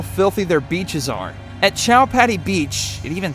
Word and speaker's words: Chowpatty: their beaches are at chowpatty beach it even sounds dirty doesn't it maybe because it rhymes with cow patty you can look out